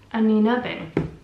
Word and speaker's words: Anine Bing: How to pronounce Anina Bing. Anina Bing.